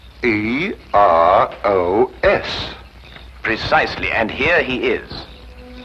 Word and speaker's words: Eros: where there shouldn't have been one what then spell it as she spelled it but without the H e r o s precisely and here he is Cupid the Greek